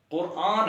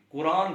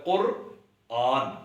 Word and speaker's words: قرآن: القرآن۔ اچھا، یاد آیا، قرآن ہے درست تلفظ، لوگ اس کو بھی قرآن پڑھ رہے ہوتے ہیں، یعنی قاف رے کے بعد الف اور نون، جبکہ درست تلفظ ہے قرآن، الف نہیں ہے، الف کی جگہ الف مد آ ہے۔ ایسے ہی اجمی، اجم